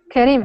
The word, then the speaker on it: Karim: say your name correctly kareim or Karim Karim okay and where are